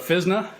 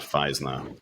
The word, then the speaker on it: Physna: Physna is short for physical DNA, and that's why we pronounce it Physna and not Physna.